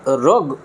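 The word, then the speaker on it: rogue: that began to interest the রাফ ক্যাচার্স, এই রাফটাকে রগ উচ্চারণ করা হয়, রোগ ক্যাচার্স, অর্থাৎ অন্যায় করে যারা,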